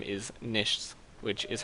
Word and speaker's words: Niichts: going by star and my channel name is nish which is how you pronounce it's German if you remove one eye